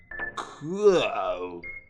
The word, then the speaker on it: Coup: Anyway, I was just thinking about a game I played about 500 years ago called Coup, or as the French pronounce it, Coup.